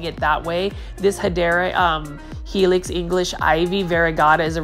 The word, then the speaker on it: Hedera helix: The return of Hedra Helix. I love me some Hedra Helix. The English ivy, the actual correct way to say it is Hedera Helix.